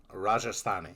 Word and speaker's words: Rajasthani: And this food, how do you say that name? Or that style? I'm going to say, hold on, Rajasthani. That's what I would have said, too. Very good.